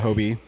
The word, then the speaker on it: Hobie: Is it Hobie, Ryan? Hobie? Yeah, Hobie. Hobie's pretty cool. And what's the Indian one? Pavtir. I can't pronounce his last name.